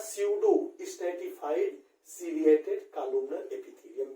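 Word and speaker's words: pseudo: सीडो, देखो यहाँ पे पीसीडो स्ट्रैटिफाइड सेलिएटेड कॉलमनर एपिथेलियम का बना होता है, ठीक है। अब पी लिखा है, लेकिन यहाँ पे पी साइलेंट होता है। इसको पढ़ा जाता है स्यूडो stratified ciliated columnar epithelium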